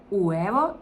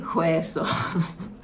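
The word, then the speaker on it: hueso: тільки вивчаєш, коли, можливо, ще не знаєш, що буква А чи не читається, це звучить, ну, якось так. І це уево і уе, але там стоїть перша буква Ач. І якщо я не знала, як е що ця буква не читається і зі своїм мінімальним англійським підходом я читала це як і хоесо. А це всього-навсього яйце і кістка.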